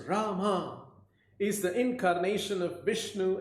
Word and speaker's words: Rama: Rama, pronounced Rama, is the incarnation of Vishnu as the prince of responsibility.